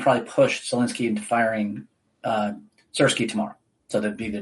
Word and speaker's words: Syrskyi: Some held derogatory signs depicting slices of cheese, a play on the general's name, which rhymes with the Ukrainian word for cheese. Syrskyi, go away, the crowd chanted.